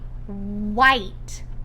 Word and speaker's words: white: him does it make white I don't even hear that age when I spelled the word white I would put WI te but that's not how it's spelled it's a WH that